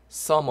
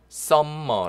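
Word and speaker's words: summer: 썸을 썸을 그렇게 하십니다 m 한번만 발음 하십니다 이아 링가 롤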